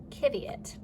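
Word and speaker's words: qiviut: But it's spelled like this. It's spelled Q-I-V-I-U-T, kiviot. And they don't put in the language that kiviot comes from, they don't use a U after the Q. They just, Q is its own letter and it just goes like that.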